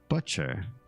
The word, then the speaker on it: butcher: I learned that in other places, the English pronunciation of the person that cuts meat would indeed be butcher, to rhyme with crutch, the same U sound, because that's how it should be pronounced.